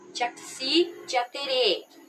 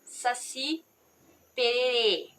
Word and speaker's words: Jaci Jaterê: com a cultura guarani, não conseguiam pronunciar corretamente o nome Jaci Jaterê e falavam Saci Pererê.